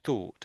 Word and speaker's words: thought: So th thought is the first one. So I'm sticking my tongue out between my teeth.